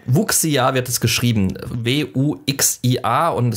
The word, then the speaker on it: Wuxia: Ich habe gerade extra nochmal reingehört, wie es ein Chinese aussprechen würde. Wuxia ist okay. Wuxia wird es geschrieben.